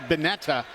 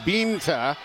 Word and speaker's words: Binta: First name is spelled it looks as though it would be pronounced Betta, but it's pronounced Binta in Sagal.